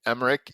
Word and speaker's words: Emeric: I don't want to mess up spelling your first and last name, so can you spell that for us? That way people know what to search on LinkedIn. Absolutely. Emeric, Emeric, Emeric.